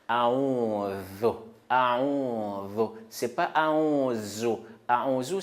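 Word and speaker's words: أعوذ: Quand on prononce Zal, la langue là, ça sort et on met la langue entre deux dents. A'udhu, a'udhu.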